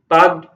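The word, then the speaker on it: Palk: हैं अब ये जो पाक पाक है पाक शब्द जो आप लोग जिसको पाकिस्तान समझते हो स्पेलिंग हमने बताई थी पी ए के ना होके पी ए एल के है य इनका पूरा नाम है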